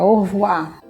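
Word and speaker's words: au revoir: cá o som ademan orvo a a gente puxa o r gutural aqui na nossa garganta orvar e assim vocês vão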